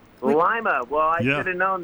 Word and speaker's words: Lima: it's like line but think of lima bean right and then you'll remember it is it named after a lima bean is there a lot of Lima beads growing around there